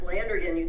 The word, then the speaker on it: Landrigan: Yes, Landrigan, you pronounced it right.